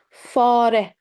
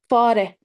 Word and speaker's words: fare: Fe, fare, fare. All letters are pronounced in Turkish. Keep it in mind. Fare, fare, mouse.